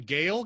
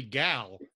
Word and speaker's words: Gal: gadot well she also does he pronounce her first name Gail cuz it's actually gal yeah no no she